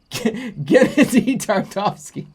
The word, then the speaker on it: Gennady Tartakovsky: Gennady Tartovsky.